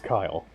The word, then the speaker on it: Kyle: It's Kyle. Rhymes with vile, Kyle.